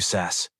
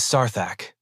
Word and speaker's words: Sarak: That's really brave of you, Sass. Respectable. It is Sarak. And you will learn to pronounce it properly while you are lying on the floor wondering where your confidence went.